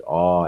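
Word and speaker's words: awe: french latin or german oh the e don't worry about the e oh just get the a uh uh uh and then that w sound oh and the lips would round make a round oh yes oh oh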